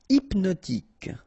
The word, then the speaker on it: hypnotique: Hypnotique, remember, at the end, Q-E, K, tic. So H is not pronounced.